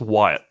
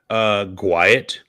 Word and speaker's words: Wyatt: Because it's pronounced Wyatt. I would say Gwiat.